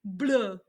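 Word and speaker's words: bleu: a french accent though blue blue i know it sounds weird so blue is blue if it's feminine you add an extra e it does not change the pronunciation it's just blue with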